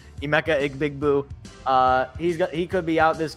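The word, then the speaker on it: Emeka Egbuka: You might not have Emeka Big Boo, or whatever. I'm only going to call him that. I know that's not how his name is pronounced. Emeka Igbigbu.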